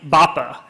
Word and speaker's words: Bappa: start with my name baa uh it means loved one when you call me that I won't believe that you're telling me that but uh uh but it rhymes with Papa so uh I don't